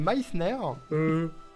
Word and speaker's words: Meissner: Elle a dit Messner, ouais. Elle a pas dit Meissner. À deux doigts d'aller la voir et lui tapoter sur les potes. Actuali, c'est Meissner.